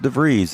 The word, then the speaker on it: DeVries: He says it's pronounced DeVries.